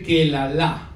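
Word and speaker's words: קללה: Pero en hebreo la palabra para maldición se dice kelalá.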